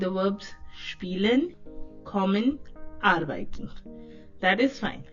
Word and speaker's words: spielen: इसका प्रोनाउंसिएशन देखें, स्पीलन. आई ई जो है कौन सी साउंड देता है आपको? ई की साउंड देता है, स्पीलन.